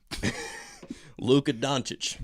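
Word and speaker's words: Dončić: Luka Doncic.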